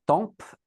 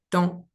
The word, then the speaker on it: temps: Donc rappelle-toi pas temp mais temps. Temp on ne prononce pas le temps.